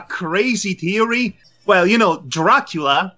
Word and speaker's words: Dracula: theory well you know Dracula the main antagonist rhymes yeah rhymes with Petula Scott Bakula is a popular